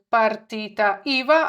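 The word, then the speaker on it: partita IVA: Ну і ще одне слово, яке ми маємо знати - це п іва, що перекладається як, не перекладається, а саме читається, вимовляється як партіта іва, а отже, це фоп, по-нашому.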